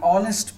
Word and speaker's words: honest: An honest person. Again, H is silent here.